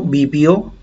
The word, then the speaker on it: vivió: Mi tatarabuelo vivió, ¿no? Aquí le voy a poner vivió. Vivió, acento en la O.